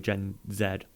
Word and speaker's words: Gen Z: who do not like gen z which is um year two 1996 up till 2012. is that gen z is there yeah or in like the uk gen zed by pronounce it gen z um i the